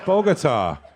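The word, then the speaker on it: Bogotá: It's Bogota.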